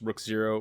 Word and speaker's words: Rookzer0: always check me out on youtube it's just rook zero with a zero at the end it's rook